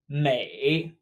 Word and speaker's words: 每: appearance next we have Mei Mei just like beautiful exact same May 8th this character means